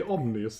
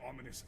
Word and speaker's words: ominous: Yes, you tend to say omnious instead of ominous. I think Janshi pronounced it correctly. Omnious, as in all-knowing. Is this place? That is what it means. Omnious means... Violently ominous atmosphere.